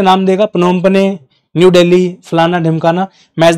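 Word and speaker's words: Phnom Penh: आते-आते यह आपका पनोपम पने। याद रखना है पनोपम पने जो भी है आप इसको प्रोनाउंस करो ये जो है आपका मेकोंग रिवर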